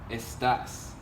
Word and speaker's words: estás: The tilde makes a difference in how you pronounce it. Without the tilde, this would be estas. That's a whole other word.